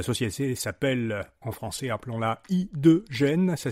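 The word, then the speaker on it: H2Gen: La société s'appelle, en français appelons-la I2Gen, ça s'écrit H-Y, le chiffre 2 et G-E-N.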